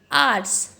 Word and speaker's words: hours: Ratio 1, ONU 1 वाला 1, आर्ट्स HOURS, इसमें आपको पता है H जो है वो हमारे पास क्या आता है, साइलेंट माना जाता है, तो इसे हम क्या बोलते हैं, आर्ट्स।